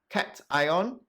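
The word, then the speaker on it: cation: n stands for negative and then in a cat ion you see there's a plus sign here so t cat ion right positive so practice pronouncing it cat ion and anion all right so this is the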